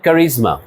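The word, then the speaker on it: charisma: এন্ড কারিজমা। এই শব্দটা দেখো। এখানের এসটা জটের মত উচ্চারণ হবে।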